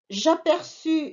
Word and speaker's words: aperçus: J'aperçus, c'est le verbe apercevoir, avec US et CCD pour prononcer le C.